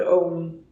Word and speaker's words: Ogham: So Ireland has a medieval tree alphabet from like around the 5th century called Om, like the meditative word that is the original sound of the universe, maybe. It's spelled Ogham, and I included one of my drawings of Om.